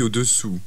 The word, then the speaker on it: au-dessous: Je vous conseille de prendre la taille au-dessous. Was that the size above or the size below? The size below. Au-dessous. If pronounced incorrectly, it would mean exactly the opposite. Au-dessus.